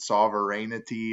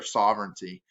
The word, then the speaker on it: sovereignty: i'm not gonna lie i pronounced it sovereignity or something like that it is a hard word to pronounce um and again it's popular sovereignty um it wasn't last